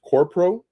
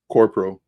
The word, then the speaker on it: QORPO: The only one that I do have a little bit of is I think it's pronounced Corpro, QORPO.